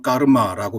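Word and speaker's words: कर्म: 사실 깜마라는 이 빨리어 단어는 산스크리트어로는 까르마라고 발음합니다마는 무언가를 행하다라는 뜻의 까로띠의 명사형입니다.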